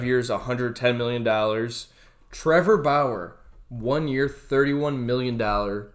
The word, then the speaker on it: Bauer: oh trevor freaking trevor brower i can't even say his name right it's bauer i cannot stand him